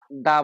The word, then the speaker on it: the: এখানে দেখেন তো বন্ধুরা টি এইচ এর পরে শব্দটা ভাওল দিয়ে শুরু হয়েছে। আমব্রেলা এখানে এজন্য এটাকে আমরা দা বলতে পারবো না।